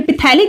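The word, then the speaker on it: phthalic: General name इसका थैलिक acid. ये पिथैलिक acid भी आप बोल सकते हैं। इसमें पीएच जो होता है वो साइलेंट होता है।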